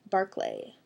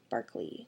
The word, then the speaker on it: Barclay: see oh sorry oh barclay b-a-r-c-l-a-y i wonder how you pronounce that barclay barkley no barclay it's english and scottish